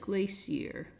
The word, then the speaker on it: glacier: Now, glacier is how Americans pronounce it. I believe the British pronounce it glacier.